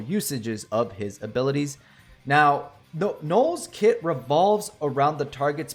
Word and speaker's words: Noel: All right, I pronounced it wrong in my last video. I said Noel. It is Noel.